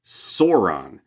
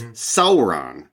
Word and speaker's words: Sauron: the classic one Sauron for years I pronounced it Sauron thinking like oh it's like sauropod Sauron that sounds evil but no it's Sauron is how you're supposed to pronounce it so there's all these